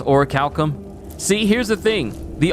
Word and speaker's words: orichalcum: never heard the word Orichalcum said or pronounced at all. So I just thought it was Orichachalum, and I never thought about trying to learn it.